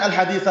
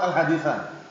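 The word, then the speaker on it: الحديثَ: Bacanya alhadisa. Karena alhadisa ini maf'ul bih dengan fi'il buang takdirnya akmilil hadisa. Jadi kalau ada titik-titik alhadis itu bacanya pendapat yang kuat alhadisa.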